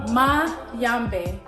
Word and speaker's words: Mayombe: Maybe ma yambe.